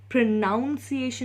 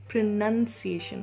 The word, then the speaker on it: pronunciation: अच्छे से प्रोनाउंस करना, लेकिन प्रोनाउंसिएशन नहीं होता है, प्रोनंसिएशन होता है।